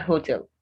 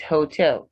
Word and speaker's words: hotel: Hotel. Not hotel, it's hotel. Second syllable stressed.